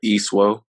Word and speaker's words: Isuo: how do you say your last name uh e suo easter doctor mo welcome man uh you know